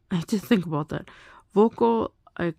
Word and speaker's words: voco: I call actually that should probably pronounced vocal because you don't put a stress on the on the last thing on the final syllable.